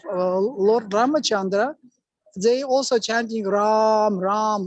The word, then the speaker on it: Rama: ramachandra they also chanting ram ram like Hanan also chant ram ram no not raama but ra so what you can